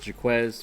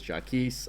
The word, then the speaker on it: Jacques: down in episode one we're gonna talk about jacquez Patrick all right here we go so our first pick Mr jacquez Patrick and yes it's pronounced jacquez when I first saw it I thought it was Jacquees I'm wrong it's pronounced jacquez all right but